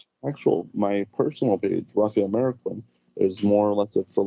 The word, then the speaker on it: Marroquin: Then Marroquin, a lot of people get it wrong, but it's Marroquin.